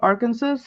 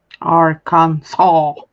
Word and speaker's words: Arkansas: you ever go through Arkansas Arkansas stays at Arkansas Arkansas Arkansas Arkansas they okay yeah that's the last s is silent or just like a w it's Arkansas Arkansas are